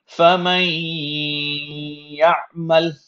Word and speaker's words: فَمَن يَعْمَلْ: First we have فَمَن يَعْمَلْ. Now notice when I said فَمَن, may, I held this sound مَن يَعْمَلْ. فَمَن يَعْمَلْ in my nose.